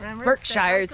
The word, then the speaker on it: Berkshires: showed us around the berkshires and i berkshires berkshires you're right say it like a local the